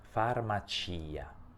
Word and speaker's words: farmacia: sentito che io ho pronunciato anche la i farmacia pronuncio la i perché su questa i si trova